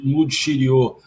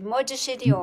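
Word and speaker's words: Maud Chirio: aqui presente e de Mud Xiriô. Pronuncii corretamente, Mariana, o nome é Mode. Mode Xiriô.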